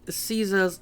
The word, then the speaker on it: Caesar: Okay, another thing that I noticed is that he's using Caesar's Latin pronunciation. And the only people I've ever heard doing that are people who were in the Legion. Pretty much everyone else says Caesar, and only Legionnaires and,